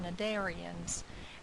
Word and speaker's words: Cnidaria: today we're talking about cnidarians and Cnidaria comes from a Greek word Neos the C is silent which means stinging nettle